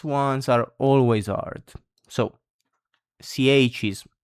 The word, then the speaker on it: chi: So, for example, chi, who, it means in Italian, you can see it's pronounced like a K, chi.